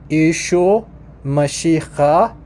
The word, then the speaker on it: Yeshua Mashiach: So in Eastern, it's pronounced Yeshua Mashiach. Yeshua Mashiach. Western, Yeshua Mashiach.